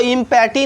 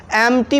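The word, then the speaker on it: empty: इसको हम लोग दोस्तों इम्पैटी नहीं पढ़ेंगे, क्या पढ़ेंगे दोस्तों, इसको एम्प्टी पढ़ेंगे। क्या पढ़ेंगे, एम्प्टी। एम्प्टी मीन खाली।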